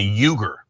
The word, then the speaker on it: Uygur: Cenk, this is pronounced like a J, Cenk, and then Uygur.